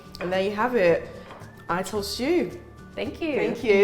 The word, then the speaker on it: Ital: Did I say it right? Ital is vital. Ital. It's Ital. Ital, sorry.